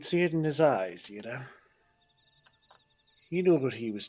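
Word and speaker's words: Yda: Because they were all saying Yida before, but he said Ida.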